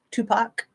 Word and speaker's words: Tupac: I'm saying Aaliyah right cool P um poac Tupac thank you yes IC tea too yeah I